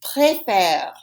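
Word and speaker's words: préférer: after me it's preferred you see the accent on the first e it goes up to the right i call that a rising accent it goes uphill that makes an e have an a sound but on the other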